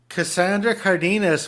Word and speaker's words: Cassandra Cardenes: Cassandra Cardenes, welcome to the show.